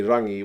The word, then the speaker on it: Rangi: He's an angry man, Rangi, when he was like, probably Rangi would be the correct pronunciation of his name.